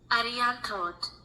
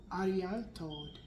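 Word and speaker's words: Arianrhod: Ariantod, Welsh. Ariantod. Okay. Ariantod, Welsh. It's Welsh. Ariantod. Ariantod, Welsh. Okay. Ariantod. So the R and the H sounds like a T.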